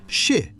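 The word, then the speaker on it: 四: at a wedding, because four is pronounced shi, the same sound as the word for death, and nine gets avoided for a similar reason.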